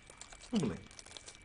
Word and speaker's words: humaling: Three syllables. Are they all equal? Humaling. Humaling. Better? Humaling. Like Somali.